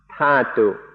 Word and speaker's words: Dhatu: In English, it's usually spelled Dhatu, and so I sometimes say Dhatu. In Thai, it's pronounced Thatu, so that's why I mix these up.